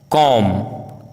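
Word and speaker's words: comb: यदि किसी वर्ड में एम बी या बी टी साथ में हो तो बी का उच्चारण साइलेंट होता है, जैसे बॉम्ब, कॉम, Tom, lamb, क्लाइम, डम, थम, प्लमर, डेट, डाउट, शटल।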